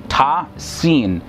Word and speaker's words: Ta-Sin: is what it says: Ta-Sin. These are the verses of the Quran and a clear book. Now, the term ta and sin, which are written as single unit and pronounced together as ta sin, the first letter appears